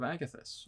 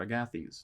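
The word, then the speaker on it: Agathys: bolt and armor of agathis or agathies depending on how you pronounce it I always said agathis but I'm not too picky on my own pronunciations guiding bolt is going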